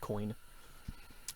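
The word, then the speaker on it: Koine: coin it's spelled k-o-i-n-e i believe it's just pronounced coin uh lunar blood dropped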